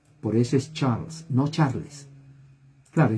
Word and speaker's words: Charles: pronuncia por eso es charles no charles claro y español decimos charles pero no nuestra es charles porque la e en charles no se pronuncia lo que hay es